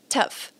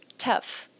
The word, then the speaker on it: tough: It's tough. É difícil. E sim, esse GH aí tem som de F, ok? Tough. Tough.